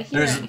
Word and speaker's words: Huron: Yeah, Huron. There are people in Huron pronounce it Huron. Huron, yeah. Like, urine.